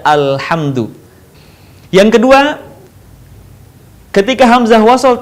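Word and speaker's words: الحمد: Perhatikan, bukan ulhamdu atau ilhamdu, tapi dibaca alhamdu.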